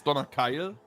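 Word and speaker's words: Donnerkeil: i love it me donorkiel yeah it's donna kyle like the name kyle in the end there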